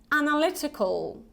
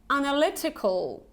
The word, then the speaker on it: analytical: Analytical. Analytical. So you see analytical, not analytical, okay, but analytical. And again, you have this short E here, which is more like analytical, analytical, okay.